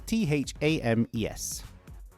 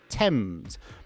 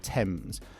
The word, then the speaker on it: Thames: The spelling is t h a m e s. No, it's not Thames. It's Tems. Basically, the pronunciation is Tems, as if it's a t e m z, let's say.